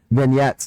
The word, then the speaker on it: vignettes: i i that gee i always want to pronounce that g vignettes it's the french um that speaks about